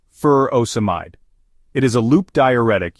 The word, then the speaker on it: furosemide: of taking the medication furosemide or Lasix is pronounced fur oide it is a loop diuretic used to treat